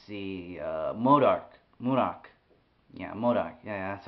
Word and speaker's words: MODOK: for example let's see uh modok modok yeah modok yeah that's how you say it yeah modok